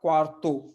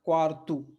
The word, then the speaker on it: quarto: Again this word is ending in the vowel O, सो ओ is going to be pronounced as उ, so not quarto, it's quartu, okay.